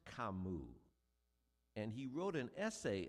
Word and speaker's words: Camus: Nub said, "It's pronounced Kamu."